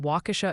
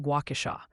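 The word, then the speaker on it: Waukesha: Also, a very vocal committee from Wisconsin would like to inform you that Wauasha is pronounced Guauasha, and they're suggesting you watch some Charlie Baron's videos for homework.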